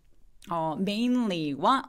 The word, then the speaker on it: mainly: 그래서 mainly 내지는 mainly가 아니라 mainly라고 L 소리를 내줄 때 윗니 쪽에 라고 소리를 내면서 긁어서 되게 또렷한 소리를 내주셔야 돼요.